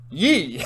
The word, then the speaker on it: Yi: g in this episode which is actually called yee like except it's spelled y i not y e so what happens is